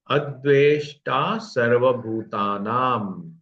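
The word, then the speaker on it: अद्वेष्टा सर्वभूतानाम्: अद्वेष्टा सर्वभूतानाम, ना के ऊपर जो अनुस्वार है वो अनुस्वार म का उच्चार, आधा म का उच्चारण होगा, क्योंकि उसके आगे म ये व्यंजन है। अद्वेष्टा सर्वभूतानाम, भू दीर्घ, ता और नाम दीर्घ।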